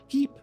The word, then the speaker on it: pipe: uh but more importantly in French pipe is pronounced Peep and thus the marshmallow